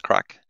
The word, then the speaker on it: craic: And we have a podcast called Serverless Crack, which is crack, that's spelled C-R-A-I-C, which is kind of an Irish word for kind of good fun.